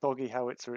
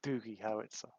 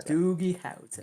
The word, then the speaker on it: Doogie Howitzer: It's not Doggy Howitzer, it's Doogie Howitzer. So, Yeah. Doogie Howitzer.